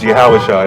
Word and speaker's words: Yahushua: The original Hebrew, the Paleo Hebrew, is Yahushua. That's how you pronounce it in Hebrew, and it just means Joshua, which is the English translation.